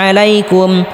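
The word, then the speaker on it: عليكم: লম্বা করে টানতে হবে আলাইকুম আলাইকুম গলার মধ্যে হালকা চাপ দিয়ে উচ্চারণ করতে হবে আলাইকুম বামে তা দিতে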